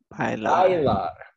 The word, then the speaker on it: bailar: So it kind of sounds like bye. Bye. Like same as we say goodbye. Say goodbye. Goodbye. Lar. And then follow it with lar. Goodbye, lar. Goodbye, lar. That's it. That's the pronunciation of this word.